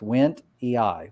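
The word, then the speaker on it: wendtii: has some info here it's named after a person named wendt and the ii is always pronounced e-i so it's went e-i went the eye that's good uh let's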